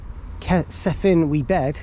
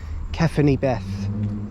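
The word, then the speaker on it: Cefn-y-bedd: kind of pronounced now sephin we bed is probably how everyone thinks it's pronounced but no it's kefany Beth something like that it's really weird anyway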